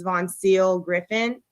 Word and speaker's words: Voncille: punched her live-in girlfriend, and her name is Von Seal Griffin, and that's spelled VONCILLE.